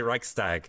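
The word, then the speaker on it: Reichstag: pronounced it wrong go how's it pronounced I would say Reich stag oh well it depends on where you are in the country but yeah that that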